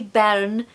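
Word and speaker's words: bairn: or little a we Baron and baron or Baron or Baron so again I'm tapping my r or I'm just really pronouncing the r that means baby so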